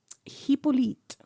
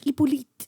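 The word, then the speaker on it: Hippolyte: to my sister is said an H in the beginning hipolit but they don't pronounce h in in French iolite oh iolite H I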